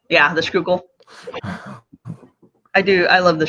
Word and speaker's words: Schuylkill: It's the Schuylkill? Schuylkill. Yeah, the Schuylkill. I love the Schuylkill.